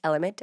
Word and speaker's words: LMNT: l m n t yes it's pronounced element but it's drink l m n t dot com slash austin af for